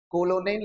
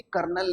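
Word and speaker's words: colonel: कोलोनेल नहीं है, ये कर्नल लिखा हुआ है।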